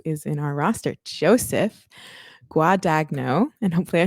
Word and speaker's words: Guadagno: Guadagno, you got it right.